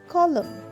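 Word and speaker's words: column: কলম। কলমেও এনটা উচ্চারণ হচ্ছে না।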